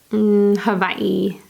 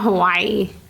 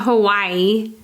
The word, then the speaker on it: Hawaii: Hawaii. I don't know how they say I it. call it Hawaii, but I don't think that's how you're supposed to say it. It's not Hawaii. It's not Hawaii.